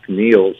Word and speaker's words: Nels: Like supposed to be pronounced Niels, and all of a sudden it's become Nels, which isn't a name there.